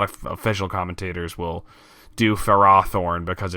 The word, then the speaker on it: Ferrothorn: on speaking of which Ferrothorn yeah yes affair okay don't worry why do those why do they why do some people call it for rothorn that's so weird it